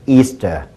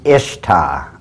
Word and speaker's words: Ishtar: Semiramis as the goddess Easter. Now, a lot of people think it's pronounced Ishtar, I-S-H-T-A-R. People, check the Babylonian Talmud once again. It is properly pronounced to this very day, Easter.